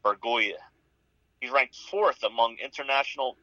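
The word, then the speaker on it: Bergolla: from venezuela named william argola jr actually paid him 2 million dollars which represents 40 percent of their 5.1 million dollar international bonus pool wow actually pronounced burgoya he's ranked fourth among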